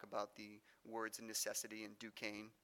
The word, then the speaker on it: Duquesne: the words necessity and Duquesne. Yes, that's how you pronounce that French fort up there, Duquesne.